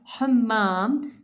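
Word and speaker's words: حمّام: While pronouncing all these letters, the ha is make a difference in your throat. This sound. While pronouncing ha, hal, harm, hamza, hammam, shabah. The chest, you vibrate little. If your chest is vibrating while pronouncing this, it means you are right.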